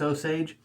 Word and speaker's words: Osage: the osage rub now this part of the world where i'm at it's osage i've heard it pronounced different ways but here is osage robe and this one here